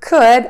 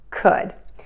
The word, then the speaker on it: could: And then our last word, could, again, with the erased L, because we're not going to say it, is could.